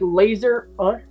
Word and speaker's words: Lazarus: Like laser us? Yeah, it's like laser us. Well, Lazar. Yeah. Laser us. Like a laser beam.